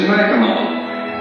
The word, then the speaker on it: Mackinac: We're informed that the correct pronunciation is Mackinac, as it is the French derivation of the original Indian name.